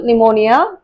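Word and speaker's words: pneumonia: என் எஸ்டி இந்த மூணு லெட்டர்ஸ்க்கு முன்னாடி பி வரப்ப ஒரு வேர்டோட பிகினிங்ல வரப்ப அது வந்து சைலன்ட்டா வரும்.ஃர்ஸ்ட் லெட்டர் வந்து என்க்கு முன்னாடி பி வரப்ப அந்த பி வந்து அந்த வர்டோட பிகினிங்ல இருக்கறப்ப சைலன்ட்டா வரும்.ஃர் ஒரு எக்ஸாம்பிள் நிமோனியா நியூமேட்டிக் நெக்ஸ்ட் வந்து எஸ் சைக்கோ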